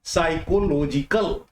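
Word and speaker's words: psychology: जाता है उसे हम साइकोलॉजी कहते हैं। जब इसको एडजेक्टिव में बदलेंगे आप तो यह हो जाएगा साइकोलॉजिकल। हाँ, एक बात का ध्यान देंगे, साइकोलॉजी में पी जो पहला अक्षर है वह साइलेंट है।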